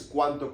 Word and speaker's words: cuánto: Do that harsh D sound with your tongue in between your teeth.